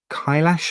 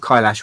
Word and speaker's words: Kailash: So that's Mount Kailash, I think you pronounce it.